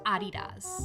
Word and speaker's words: Adidas: sex change surgeries actually it's German and it's pronounced Adidas it's just a simple